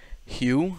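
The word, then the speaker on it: Hogue: So the first winner, his name on YouTube, I believe, goes by James Hugh. I think that's how you say it. H-O-G-U-E.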